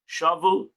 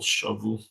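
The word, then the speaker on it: שבו: Shavu, like take expression of taking captive, and therefore the accent is in the last syllable. Shavu.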